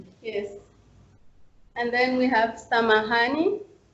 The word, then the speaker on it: samahani: And then we have samahani. Then you see again the word intonation is on letter H.